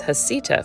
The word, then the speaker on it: Heceta: Turns out everyone is a little unsure, and there are several acceptable ways to say this explorer's name. I have chosen to pronounce his name as Heceta for the rest of this video.